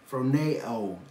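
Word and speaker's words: φρονέω: Phroneo. That's the pronunciation of the Greek word.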